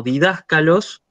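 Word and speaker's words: διδάσκαλος: Por ejemplo, lo puede impedir el hecho de que vos, de que vos tengas una palabra como didáscalos, que es proparoxítona, es decir, lleva acento agudo en la antepenúltima sílaba, y cuando vos haces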